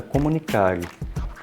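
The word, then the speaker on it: communicare: central dessa videoaula assim a palavra comunicação é originária do latim e a pronunciada comunicare tem como significado tornar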